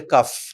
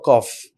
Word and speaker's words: cough: And this is a very common mistake in India, by the way. People say cuff Cuff. for cough.